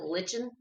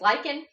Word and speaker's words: lichen: It's lichen, and lichen is spelled like that, so everybody wants to pronounce it lichen. But it's lichen, and so lichen actually